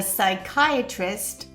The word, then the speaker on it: psychiatrist: The psychiatrist was psyched to psychoanalyze.